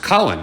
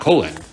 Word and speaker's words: Colin: and it's fun or it's pronounced colin not colon and i just hoped